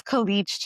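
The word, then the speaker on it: Khaleej: That's Khich Times.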